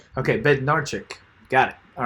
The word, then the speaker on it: Bednarzik: Bednarchik. Okay, Bednarchik.